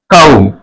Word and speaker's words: comb: আ ফ ফ অ ফ ল অ ম অফলম অফলম সি ও এম বি কৌম ক আ ও ম কৌম কৌম কৌম।